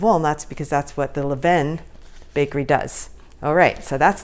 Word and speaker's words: Levain: pronounce this word because on google it says Levein and i've heard a guy on a youtube video say LaVon and so I thought I'll just call them and they answered the phone Levin so that is how I'm going to pronounce it so I'm going